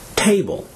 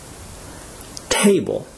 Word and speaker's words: table: well for example example the noun table is stressed on the first syllable and is pronounced table table the adjective happy is